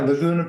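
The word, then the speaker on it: Laguna: production company um uh lagona is that the right pronunciation yeah lagona Productions it's like lagona beach right right okay and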